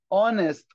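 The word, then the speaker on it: honest: جاردنر جاردن جاردنر اونست اونست في يا مستر اتش سايلنت يا حبيبي مش بننطق اونست اونست يعني امين مين هو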